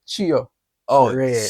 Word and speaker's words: Cheoray: No, you know, the thing is, a whole lot of people mispronounce it. It's Cheo. Oh, Ray.